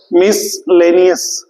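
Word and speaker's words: miscellaneous: क्या है ये word मिसलेनियस एम आई S miss सी को हम इसी में प्रोनाउंस करते हैं मिसलेनियस मिसलेनियस वर्ड्स मिसलेनियस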